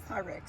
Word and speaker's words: Pyrex: Purex. Is that how you say it? Py Pyrex. Pyrex. Pyrex.